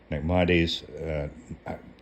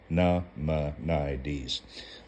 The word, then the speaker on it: Maimonides: In corroboration of the latter assertion, Maimonides, there's 4 syllables in the name, Maimonides, notes that the patriarch Abraham, as intimated by the sages, learned the reasons for the commandments through divine inspiration.